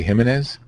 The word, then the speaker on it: Gimenez: out of the room the JS usually have an H pronunciation Steve himz Jose Jose gimenez we got in the car to drive back to Laura del Rio at about 12:30 a.m.